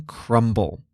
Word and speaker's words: Crumbl: And no brand represents that more than crumble. Crumble Cookies is spelled cr u m b l.